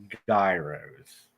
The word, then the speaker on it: gyro: and he said that they actually call them gyos yeah gyro not Gyros yeah he said Americans say it wrong well good thing you